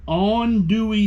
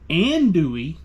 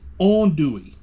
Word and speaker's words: andouille: little bit restarts not Richards re-shorts green onion on dewy sausage that's right it's not andouille it's on Dewey on dewy sausage that's a proper pronunciation just